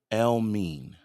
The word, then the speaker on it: Elmiene: I believe it's pronunciated Elmiene.